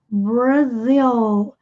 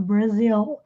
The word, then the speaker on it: Brazil: Em inglês, o R é enrolado. Brasil. Bra. Bra, não é bra. Brasil.